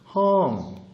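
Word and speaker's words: ห้อง: 어떤 거냐면 이때 이 헝의 뜻이 발음은 헝.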